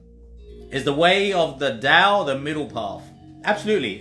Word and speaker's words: Tao: TAO, okay, pronounced it Tao, so some of you might be familiar with Taoism.